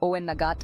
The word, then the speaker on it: Owenagat: Some of these creatures escaped via Owenagat Cave, pronounced Owenagat and meaning Cave of the Cats.